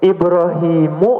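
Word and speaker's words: إبراهيمُ: Ibrahimu atau Ibrahimun ya? Ibrahimu. Coba Bapak, Ibu ya kalau mencari di Al-Qur'an nama Ibrahim itu enggak mungkin tanwin, Bu ya, Pak. Jadi pasti dia tidak bertanwin.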